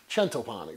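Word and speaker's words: Centopani: this obviously you see my last name sentapani or as it's technically pronounced chentopani which means 100 breads an Italian last name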